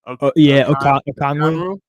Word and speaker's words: Okongwu: I don't even know how to pronounce his name, the power forward. Okongwu.